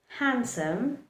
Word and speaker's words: handsome: D also likes to remain silent in words like sandwich, handsome, and our favorite, Wednesday. So in the word Wednesday, handsome, Wednesday, handsome, and sandwich, don't pronounce the letter D, just keep it silent.